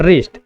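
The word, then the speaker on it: wrist: इसे पढ़ते हैं राइट, रॉन्ग और रिस्ट। जहां पर डब्ल्यू तीनों में क्या है?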